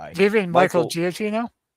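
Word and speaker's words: Giacchino: Do you mean Michael Gotino? Yeah. Yeah. Michael Jakino is how you say his name.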